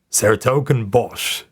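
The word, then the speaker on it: 's-Hertogenbosch: to a town with one of the most difficult to pronounce names for the non-native Dutch speaker saratok and Bosch it's not for no reason that everybody just calls it Den BOS there he entered a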